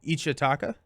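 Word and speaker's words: Ichtaca: For future reference, I heard it pronounced Etzli and Ichataka. Okay. Ichataka.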